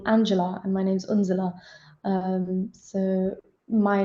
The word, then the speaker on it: Unzela: You guys can pronounce my name. So I went back to Unzela, and since then I've just been Unzela. Anyone I introduce myself to, it is Unzela, because I'm like, you